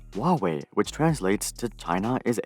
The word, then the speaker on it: Huawei: Ren altered this to Huawei, or as it's properly pronounced, Huawei, which translates to China is able.